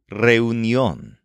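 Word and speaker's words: reunión: or among friends is reunion spelled like the English word reunion but with an accent over the final o reun and like most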